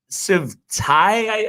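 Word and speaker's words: Tsai: The Squawk Box Barclays Center, owner of the Nets, Joe Sivtai, I think it's pronounced, but they were doing a one-on-one interview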